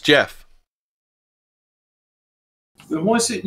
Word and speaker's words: Gef: not English yeah but it's actually pronounced Jeff The Voice it not